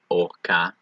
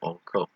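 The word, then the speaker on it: ארכה: Actually, I think I made a mistake in my pronunciation right here on Orka. I think I said Orko, just so you know, see if any of you caught that.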